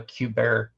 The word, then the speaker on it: Kubert: I think it's pronounced Kubert.